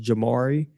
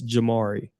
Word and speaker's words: Jamari: So just so just to clear up any confusion, my name is pronounced Jamari. Um so I've been told that I don't correct people enough. So it's Jamari for anybody confused.